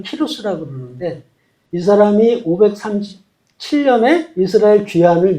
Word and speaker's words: 키루스: 그래서이 고레스왕이 이제 원래 발음 키루스라 그러는데이 사람이 537년에 이스라엘 귀한을 명령해요.